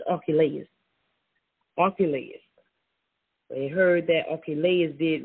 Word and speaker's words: Archelaus: Okay, so the correct way of that pronunciation of this king of Herod, this king is Archelaus.